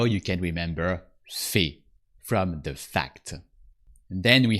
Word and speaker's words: fait: Elle fait. Il fait. On fait. So AI sounds E or E. And the T is silent because it's not activated by a following E.